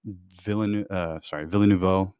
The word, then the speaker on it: Villeneuve: I think that some of what Villeneuve, what Denny does with Villeneuve, sorry, Like baby dead cow, and then Neuve like Deliberately like pronounce it Dennis.